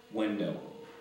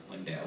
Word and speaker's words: Wendel: Window. Oh, his name was really Window? Window, yeah. Did you say he owned a window company? Window is spelled W-E-N-D-E-L. But Wendell, he was, okay.